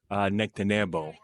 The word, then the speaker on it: Nectanebo: One is that name is pronounced Nectanebo, 30th dynasty.